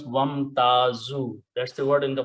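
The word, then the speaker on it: وامتازوا: When you put a waw in the beginning, do not pronounce alif, it becomes wamtazu.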